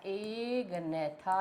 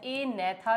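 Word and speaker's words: Agnatha: तो एक डिवीजन है बेटा एग नेथा या ए नेथा भी बोलते हैं। आपकी मर्जी है जी को साइलेंट कर लीजिए। बोलने का ढंग वही सही होता है। जी इज साइलेंट हियर।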